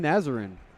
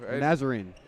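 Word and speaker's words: Nazarene: uh BR you want to take a shot pronouncing that olivan nazarin there we go nazarine there we go and she is their leading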